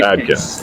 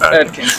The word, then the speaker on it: Adkins: Yes, Adkins. Adkins. Kind of like the diet, the Atkins diet, but with a D instead of a T.